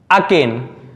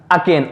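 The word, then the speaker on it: arcane: इसके बाद अब हमारा अगला वर्ड लिखा है अकेन। अब यहां पर जो आर लिखा है उसको क्या करेंगे? हम साइलेंट रखते हैं।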